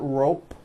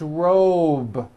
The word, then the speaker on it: robe: a voiced B ending same thing with robe also has a voiced B ending it's not rope with an unvoiced P it's robe okay let's go over